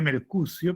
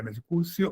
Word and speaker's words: Mercucio: Se escribe Mercucio, pero se pronuncia, podemos pronunciarlo de la manera, Mercucio o Mercucio.